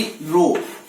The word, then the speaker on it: rho: Resistivity रो, RHO क्या बोला जाता है? रो।